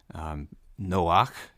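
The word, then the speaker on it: נח: Noach is the Hebrew for Noah the man in Genesis, and really Noah is probably the best way to pronounce the name of the woman here in the Hebrew.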